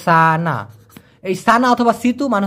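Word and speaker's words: sana: Situ অথবা সানা এস এ এন উচ্চারণটা সানা।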